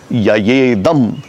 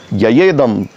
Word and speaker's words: ययेदम: जीवभूताम जीवभूताम महाबाहो ययेदम, ये एक ही शब्द यया इदम धार्यते जगत। ययेदम धार्यते जगत।